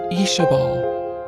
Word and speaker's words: Ishabal: Fisher pronounced it Ishabal, the name flowing nicely off his tongue like he'd known 20 other females with the same name.